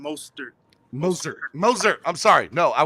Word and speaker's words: Mostert: When you say Raheem Mozart, is that on purpose, or do you think that's how you say it? You say it like that on purpose or as a joke? Like I'm pretty sure it's Raheem Mostert.